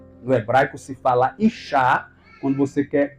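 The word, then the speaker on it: אישה: No hebraico se fala Ishá quando você quer pronunciar mulher. Agora, quando vai pronunciar homem em hebraico é Ish. É verdade, no hebraico se pronuncia mulher Ishá. E homem é Ish.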